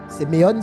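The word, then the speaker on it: σημεῖον: Seméon s'écrit S e M e I O N.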